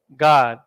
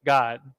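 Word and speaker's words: גד: the Assyrian God equals God equals North American Indians is basically guy and die you're putting it together to get God don't think of it like in English the word God that's not what we're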